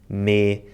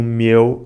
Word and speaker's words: meu: South and the islands, which change the diphthongs of the words “meu” and “bem”, saying “mê” and “bêm”. We also noticed the slightly more musical cadence of the North in the Braga accent. Miguel says “o mieu” instead of “mine” and “beim” instead of “bem”.